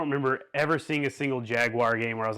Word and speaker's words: Jaguar: cost by today's standards Jaguar I like to say it like that from Cartman all right cuz you know people get mad if you just say Jack jagu it's a Jaguar it's a Jaguar anyway